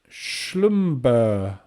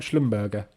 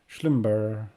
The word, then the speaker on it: Schlumberger: Pronounced with a soft G, Peter says. Schlumber. Is that what you mean? So it's not Schlumberger.